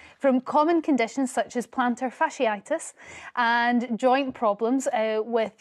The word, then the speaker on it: plantar fasciitis: well I'm very impressed at the way you pronounced it because it is plantar fasciitis we did practice on the break thank you